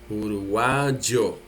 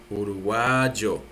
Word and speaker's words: uruguayo: Uruguay, you just add the O. The same country, you see, Uruguay, the same thing, but you add the O and you pronounce the Y like J. Uruguayo, Uruguayo.